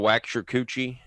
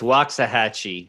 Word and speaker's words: Waxahachie: Do you know the little wax your coochie? It's Waxahachie.